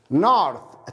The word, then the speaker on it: north: north الشمال north التي اتش ينطق ثاء north.